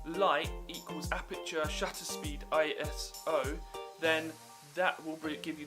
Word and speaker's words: ISO: That is aperture, shutter speed, and ISO. I was saying it wrong in the last one. I think I was calling it iOS.